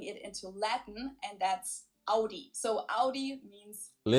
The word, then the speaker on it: Audi: The first one is Audi. Most Americans that I know pronounce it like I just said it. In German, we say Audi. Audi.